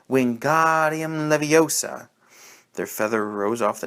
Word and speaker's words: Wingardium Leviosa: arms like a windmill you're saying it wrong harry heard hermione snap it's wingardium leviosa make the god nice and long you do it then